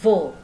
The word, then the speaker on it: vos: Untuk semua kata benda jamak pakai vo, of, ya. Perhatikan untuk v, of. Jadi lidah, ya, di antara bibir, of, gitu ya. Giginya mengenai bibir yang bawah, of, ya, votre, ya, seperti itu.